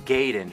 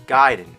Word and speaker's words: Gaiden: ninja gaiden everyone always said ninja gayden but I know for a fact it's guiding you know where I